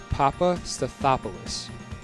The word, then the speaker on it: Papastathopoulos: His name is Socrates Papastathopoulos.